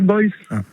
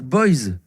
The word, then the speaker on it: Boyce: Il s'appelle Mark Boyce. Mark Boyce. Mark Boyce, il a beaucoup de succès. Et il faisait les unes des magazines OK Podium. Ouais, mais Mark Boyce.